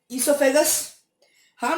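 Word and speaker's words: oesophagus: ये प्रोसेस यारों शुरू होता है बकल कैविटी से, उसके बाद जाता है ईसोफेगस। हाँ मैं जानता हूं उसकी स्पेलिंग ओ से स्टार्ट है, लेकिन उसका प्रोनाउंसिएशन ईसोफेगस है, भूलना मत कभी।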